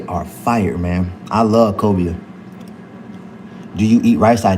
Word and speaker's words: cobia: Kobe is a fish, not Kobe, cobia. So I believe it's spelled Colbia, cobia.